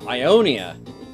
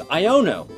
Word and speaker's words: Iono: I asked you what you thought of uh Ionia which is the wrong name it's iono because I don't know how to pronounce things apparently um this week what do